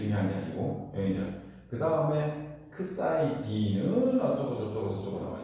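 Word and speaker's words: ξ: 자, 요게 요걸 그리스터자로만 크사이라고 읽어요. 크사이파이가 아니고 크사이 d 타우로 타로 - t라고 하는 거예요.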